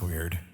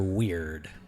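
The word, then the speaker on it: Weyird: to call on dr weird with a y with a y yes w e y i r d but the y is silent ish so hard not odd weird huh nevermind this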